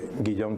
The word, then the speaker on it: Guillaume: Guillaume. Vale, pues muchas gracias y buenos días a todas y todos. Me llamo efectivamente Guillaume, tú lo has pronunciado muy bien, así que enhorabuena.